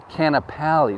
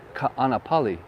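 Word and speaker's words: Kāʻanapali: simple and uh where i live is uh canapali no no no it's ka anapali so a lot of people say canapali or i've that's amazing but it's not canopy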